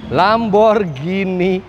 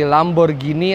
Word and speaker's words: Lamborghini: Pelafalan yang benar dari Lamborghini adalah pakai G, bukan pakai J. Jadi bukan Lamborghini, tapi Lamborghini.